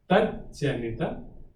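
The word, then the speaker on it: tajjanita: Jagrat, Jagrat, Avasthayam, Jagrat Avasthayam, Yad Drishtam, Yad Shrutam, Tad Janita. It's Tat and Janita put together would be Tad Janita. Tad Janita. There are two J's, right?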